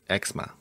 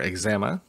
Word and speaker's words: eczema: the first one is eczema or eczema depending on where you are located pronunciation may vary eczema is a skin